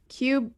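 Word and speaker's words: Qubii: them in particular um i think it's called qb so it's cube i can never remember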